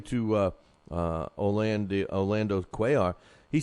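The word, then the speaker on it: Cuellar: It's, uh, the way you pronounce it is Orlando Quay, and it's spelled C U L L A R.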